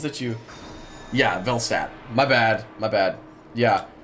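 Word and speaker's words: Velstadt: Velstat. Oh, it's there is an L there. Velstat.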